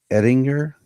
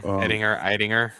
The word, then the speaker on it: Eidinger: So James Gunn announced that he had cast Brainiac, and it is, I want to pronounce everything correctly, Lars Ettinger. Yeah, Eidinger.